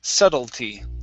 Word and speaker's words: subtlety: Now this is one of the times, you guys, when we have a word that ends with a ty, and that t is not pronounced as a flap t. I wouldn't say subtlety. Okay, that would sound funny. It would be subtlety. Don't know why. It's just one of those words we do not do that with.